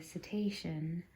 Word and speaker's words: cetacean: then the romanized cetus led to cetacean i believe is how you say it which is the latin